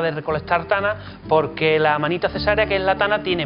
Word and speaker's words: Amanita caesarea: Se escribe caesárea, pero se le suele decir Amanita cesárea.